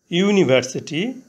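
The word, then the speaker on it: university: reads in আ ইউনিভার্সিটি ইউনিভার্সিটি অর্থ বিশ্ববিদ্যালয় ইউনিভার্সিটি এর প্রথম অক্ষর ইউ ভাওয়েল এখানে ইউ এর উচ্চারণ ইউ এর মতন হয়েছে শব্দের প্রথমে ইউ থাকলে এবং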